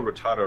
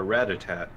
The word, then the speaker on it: Rattata: I used to call Rattata Ratatat.